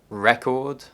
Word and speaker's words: record: You'll notice that all the words that are stressed on the first syllable are nouns, and almost all the words stressed on the second syllable are verbs.